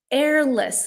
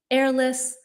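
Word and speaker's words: heirless: Number two, airless. Now, this is one of these weirdo English words where there is clearly an H there, but we do not pronounce it. So, heirloom, airless.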